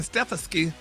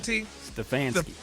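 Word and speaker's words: Stefanski: Deion Sanders because he's black and not Kevin Stefki. How you say his name? Rock Stfansky.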